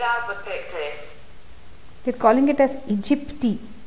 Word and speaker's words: aegypti: Aedes aegypti, Aedes albopictus. They're calling it as aegypti. Looks like this A is silent.